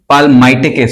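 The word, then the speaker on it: palmitic: pronounce करने का तरीका पाल मिटिक भी कुछ लोग पढ़ते हैं कुछ पामेट भी पढ़ते हैं मतलब एल उसमें साइलेंट कर देते हैं और कुछ पलमाइटिक भी पढ़ते हैं ठीक है तो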